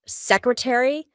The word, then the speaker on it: secretary: Well, in this case, ARY at the end of words is going to indicate that in American English, we're going to pronounce the full word library, secretary, military.